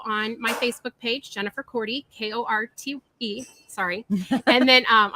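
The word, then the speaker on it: Korte: my facebook page jennifer courty k-o-r-t-e sorry and then um that's crazy question well i'm on my license plate for a while because people don't know how to say my name it said c-o-r-d-y so for some reason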